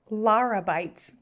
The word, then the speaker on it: Lara Beitz: It's Lara Beitz.